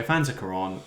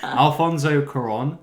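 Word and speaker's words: Cuarón: the uh Mexican set Mexican language film made by Afanic Kuran. Al messed up that pronunciation. Alfonso Kuran who made Prisoner of Ascoan.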